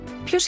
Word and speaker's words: Ποιος: In Greek, the combination of O and I produces a sound similar to E in English. Ποιος είναι αυτός?